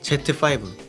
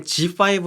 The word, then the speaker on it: Z5: rp 또 하나는 니콘 제트 파이브 이게 g5 라고 읽어야 되는데 어 제트 파이브 하고 있는 사람도 많아서 그냥 제트 파이프 라고 할게요 제가 생각했을 때는 이거